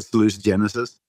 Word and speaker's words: salutogenesis: a very big one saluted Genesis there's no correct pronunciation it's a word that's written it's like Latin I just call it saluted Genesis but I can call it salute Genesis it is a theory